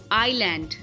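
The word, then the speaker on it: island: बढ़ते हैं silent S silent कब होता है एस साइलेंट तब होता है जब एस के आगे आई होता है ओके वर्ड्स है आईलैंड आइल डेब एंड बर्गवा बर्गवा इन सब में एस साइलेंट है कंपलीटली साइलेंट है यहां पर एस की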